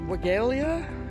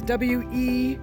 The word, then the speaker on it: Weigela: A very pretty blooming, I believe you pronounce it Weigelia, all right? It's Weigela.